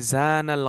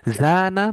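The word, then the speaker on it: زنا: আর যখন জিনা বলতেছেন, টানটা থাকতেছে না মাঝখানে, তখন এটা হয়ে যায় ব্যভিচার।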